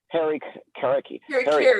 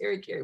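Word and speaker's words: harakiri: You know, the Japanese had a term called, and I hope I pronounce it right, harikiri.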